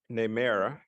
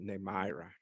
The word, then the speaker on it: Nemira: So without further ado, I would like to introduce Nemera. Congratulations, Nemera. Thank you for joining us this evening, and we invite you to say a few words. I'm sorry I said it wrong, Nemira.